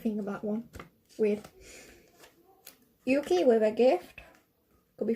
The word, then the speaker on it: Yuki: The K-I is a key, so you would say Yuki.